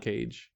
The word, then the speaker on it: Moncage: Moncage. Think of like mono, but without the ending O.